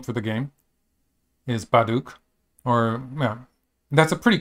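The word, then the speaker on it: 바둑: Is Baduk, or yeah, that's a pretty close pronunciation, I think. The B might be pronounced a bit more like a P, actually.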